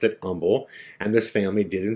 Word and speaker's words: Humble: They pronounced it Humble.